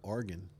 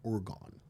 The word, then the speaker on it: Oregon: Well, what about Oregon? We say Oregon, but the correct pronunciation is Oregon.